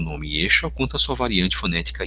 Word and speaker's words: Yeshua: Daí o nome de Yeshua em aramaico, que se pronuncia como Yeshu, tendo em vista que